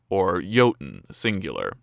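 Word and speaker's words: jötunn: known as Jotnar, the singular of which is pronounced Jotunn).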